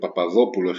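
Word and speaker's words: Παπαδόπουλος: um in this case this word papadopulos is stress on the third from the end the penultimate syllable the anti penultimate I'm sorry and these kind of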